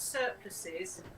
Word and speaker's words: surplice: It's spelled surplice, as in lice. No, as in ice.